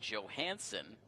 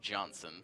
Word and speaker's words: Johansson: And my apologies, it is Mattie Johansson, not Johnson.